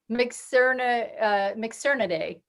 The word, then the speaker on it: Mitsukurinidae: Mikki, can you help me pronounce this? It's MITS, MITSUKURINIDAE. Mixernidae.